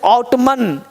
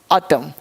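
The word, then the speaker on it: autumn: silent राहत है अब एम के पश्चात एन अब यहां देख क्या बोलना है और अब ऑटम यहां पर साइलेंट एम नहीं साइलेंट एन लिखना पड़ेगा तब क्योंकि एम के बाद एन क्या राहत है सन राहत है तो इसे आउटन ए यू टी यू एम इन आउटन पढ़ेंगे लेकिन पढ़ेंगेटम ऑटम ओटोमन नहीं ऑटम ऑटम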